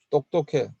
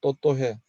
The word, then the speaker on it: 똑똑해: 100만 원이 배만 원. 똑똑해, 또또해. 그 받침 기억 발음이 안 되는 거예요.